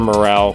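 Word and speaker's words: Morel: Morrell, who was trying to turn a double play, lets the ball hit his glove and roll away.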